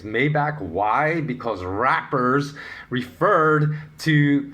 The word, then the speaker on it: Maybach: Maiba. And yes, that particular word is what Americans think is the luxury brand car called Maybach or Maybach.